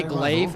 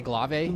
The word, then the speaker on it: glaive: So some people say glaive and I say glave.